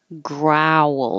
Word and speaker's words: growl: This one is owl, growl. So you have a lot more movement. Grr. Your lips are more rounded. Grr. And you have to open. Growl. And then close again for the W.